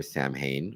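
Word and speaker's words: Samhain: celebrated Sam Wayne or Sam Hayne or sa Wayne but it's called Sam you know pronounced Sam Hayne in the the Halloween movies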